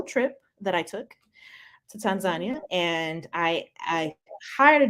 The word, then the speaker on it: Tanzania: I learned that it's actually not pronounced uh Tanzania it's pronounced Tanzania oh and I was able to yeah that's what the locals have that's what the local said Tanzania and the first thing I asked was I